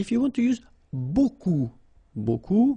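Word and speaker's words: beaucoup: you want to use buku means a lot of it look it looks a bit strange like that remember you don't pronounce the final p okay and then you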